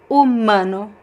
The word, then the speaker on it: humano: And the second word is humano. Humano. So the H is silent, and then we have the word mano.